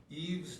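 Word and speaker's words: Yves: Eve's Development, that's spelled Yvees, Development, has been in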